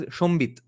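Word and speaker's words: সংবিৎ: Okay, in Bengali we pronounce it as Shombit.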